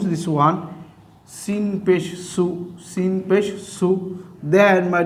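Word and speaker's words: صُ: Okay, my dear student, this one is sod, and now I'm giving pesh over the sod, and you have to pronounce this one sod pesh su, sod pesh su.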